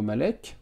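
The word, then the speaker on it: Malec: C'est bien comme ça que l'a utilisé Ivo Malek, ou Malet, si on le prononce avec l'accent de son pays d'origine, puisqu'il a écrit des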